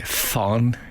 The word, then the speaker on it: von: Nobles going to say fun is it the German V is correct Frank according to Steven an F sound as in Frank so it should be